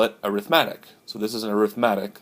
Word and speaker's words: arithmetic: lesson all right number one is called an arithmatic a are i th em a tee I see you may have heard this pronounced arithmetic arithmetic is the noun way you